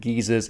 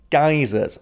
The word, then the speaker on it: geysers: to cause some controversy geers I did look up with the pronunciation and geers is correct but I know Americans like to pronounce it geysers so I'll use both